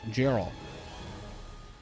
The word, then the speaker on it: Geralt: It's pronounced like G in English. Geralt.